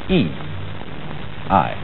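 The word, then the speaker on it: 義: not law but justice this word is pronounced e i and justice in this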